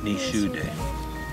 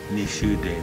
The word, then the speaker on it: Nishudeh: Ni Shude. There you go. Ni Shude, Missouri River.